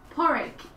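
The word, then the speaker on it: Pádraig: it's called porrik and porec is how you say Patrick in Irish oh cool yeah because it's not it's not really am the sounds that we usually use in English in Irish so they have substituted certain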